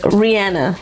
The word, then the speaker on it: Rihanna: And I actually found out her name, how she pronounces it, is Rihanna.